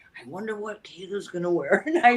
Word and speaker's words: Kato: So, with my name, Kato is my evolved American name. The actual pronunciation is Kato.